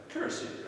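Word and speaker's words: Kürassier: How do you pronounce that in German? Kurassier, absolutely right.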